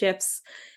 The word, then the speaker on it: GIF: images videos or gifts I understand it's actually technically pronounced shfs threading has become a